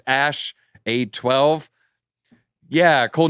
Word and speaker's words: Æ: there-- X Æ A-12 Æ is pronounced "ash," he told the controversial podcast host Joe Rogan. So X "ash" A-12.